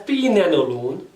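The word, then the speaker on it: pregnenolone: This cholesterol is converted in another molecule which is known as it is pronounced as prenanolone, and the spell is pregnanolone.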